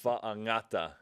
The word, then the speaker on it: Fa'angata: Fa'angata. I think the G I've learned, it sounds sort of like a ng.